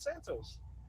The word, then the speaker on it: Santos: the wrong way nah you're saying it right santos i say it the black way santos i mean you can either say it the black way or the hispanic ways it's not really you